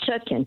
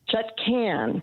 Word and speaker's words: Chutkan: The judge, Tanya Chutkan, not Chutkan. Be the first person in media to pronounce her name correctly. I heard her being, at the hearing where she was nominated for judge, and what's his name from the guy that got kicked out? Anyway, there was a hearing, and she introduced herself, and she said, "My name is Chutkan."